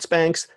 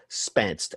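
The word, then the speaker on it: Spänst: so go check out it's spelled SP a n st not spanks Spence and it's from Ikea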